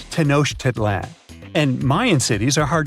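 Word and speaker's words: Tenochtitlan: It's tenoshedan. And Mayan cities are hard to pronounce too.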